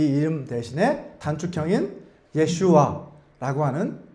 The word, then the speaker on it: 예슈아: 그리고 여호수아라고 한글 성경에서 여호수아라고 기록되어 있는 이 이름은 히브리어로 발음을 해본다면 예호슈아라고 이렇게 발음을 할 수 있습니다. 근데 예수님 당시에는 이 예호슈아라고 하는 이 이름 대신에 단축형인 예슈아라고 하는 그 이름으로 그 당시에는 불렸다고 합니다.